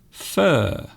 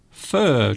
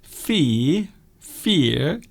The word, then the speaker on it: fir: Fir. Do you mean the type of tree? So a type of evergreen tree is called a fir tree. Fir. So F-I-R, fir. So it isn't fear, it's fur.